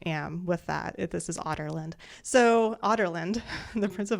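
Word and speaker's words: Adarlan: I was reading this automatically said otland because that's that's what it sounded like in the audio book so that's how they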